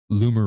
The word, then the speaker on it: Loomer: He says, "Loomer rhymes with boomer.